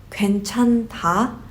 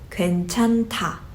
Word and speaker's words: 괜찮다: So you don't pronounce it as 괜찮다, it goes 괜찮다. You see how the latter final consonant rolled over and became 타 instead of 타?